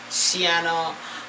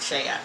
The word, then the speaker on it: Cheyenne: I know you're probably saying it should be pronounced Shiana, but they pronounce it Cheyenne.